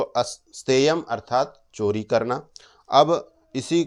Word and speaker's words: अस्तेय: इसके उच्चारण में थोड़ी सावधानी रखनी चाहिए। क्योंकि कई बार उत्तर भारत में स्थान बोलने के लिए स्थान बोलते हैं या हरियाणा आदि के क्षेत्र में स आधा स बोलने से पहले अकार बोलते हैं